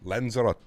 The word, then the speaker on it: Lanzarote: you say it okay so it is tay um you pronounce the last e got you okay it's like rotate but lanzarate see that's how we learn chat lanzarote there you go we